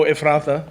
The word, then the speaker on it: Ephrathah: Oh, Ephrathah.